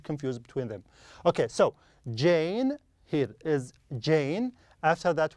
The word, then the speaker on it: Jane: Yes, the first one is J, and pronounced as J. Okay, is it Jane or Jan? It is Jane. Perfect, yes, Jane. A and E.